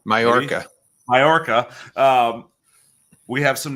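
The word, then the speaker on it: Mallorca: chill out but wow Mal for now I'm saying it wrong again I know mayorca mayorca um we have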